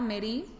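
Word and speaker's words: מריא: Y en el caso de la otra palabra merí, que también se pronuncia igual, pero se escribe diferente, nada más tiene añadida una aleph al final. Es decir, es mem, resh, yud, aleph. Y esta palabra, merí, significa crudeza, sentido de dominación y señorío.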